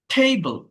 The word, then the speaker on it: table: অর্থাৎ বিষয়টা কি দেখেন, table, table, table, দেখেন ফার্স্ট সিলেবল স্ট্রেসড, অর্থাৎ প্রথম সিলেবলে স্ট্রেসটা আসে।